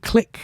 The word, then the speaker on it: Kliq: Oh, Wayne Matty with the Bullet Click. The Bullet Click. Bullet Click's that's a good name. But it's the click of a bullet. Yeah, but it's spelled KLIQ. But it's like the click of wrestling.